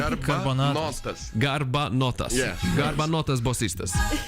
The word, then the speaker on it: Garbanotas Bosistas: But how is it with your band, the Garbanotas Bosistas, pronouncing correctly? I guess. Almost You're training. like Garbanotas. Garbanotas. Yeah. Garbanotas Bosistas, like that.